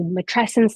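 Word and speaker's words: matrescence: by Dana Raphael that we matresence like adolescence and that's also why you can think about how to pronounce it that's how I remember how to pronounce it too and it's not just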